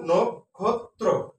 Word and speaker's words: নক্ষত্র: তারপরে আবার যেটার সাথে র ফলা আছে সেটা ওকার হবে। সঠিক উচ্চারণ নক্ষত্র।